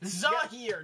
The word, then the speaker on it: Zahir: I think it's Azir. Let me see. We better look up the proper pronunciation. We're gonna look like idiots on this thing. Zahir. Zahir. Here we go. Zahir.